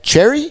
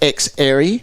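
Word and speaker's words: Xerri: to x-ray yep so the commentators say his name wrong they do and they continue to do week in week out they say cherry yep but it's x airy yeah and playing haze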